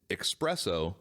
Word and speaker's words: espresso: So So I didn't realize that I was putting the X espresso.